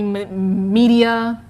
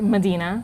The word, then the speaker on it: Medina: been butchered i mean people called me media medina medea i mean we can go on and on but it's in fact medina well at least you